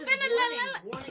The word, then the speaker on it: phenylalanine: You know, Phenylalanine is it? Phenylalanine. Read the last thing there. Phenylalanine. That's how you say it.